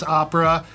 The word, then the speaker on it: OPRA: So you So it's pronounce with Ohio O. with the O. Why would you pronounce opera with the ah?